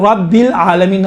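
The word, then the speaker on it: رب العالمين: تو اب یہاں پر بھی الحمد للہ رب العالمین, رب را پر گفتگو ہے. رب را کو چونکہ زبر ہے موٹا تلفظ کیا جاتا ہے, رب العالمین عالمین.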